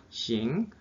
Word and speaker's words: 行: 어떻게 발음하죠? 싱.